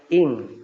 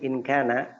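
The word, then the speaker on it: إن: walika inana Min kalau in in Ina in kalau kalau habis in terus ada kana itu dibacanya in ya jangan Ina engak ada in in ya in Kana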